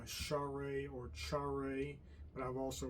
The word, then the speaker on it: Charay: Uh but for convenience here, I'll use one more commonly used pronunciation of share um or char, but let's just stick with share.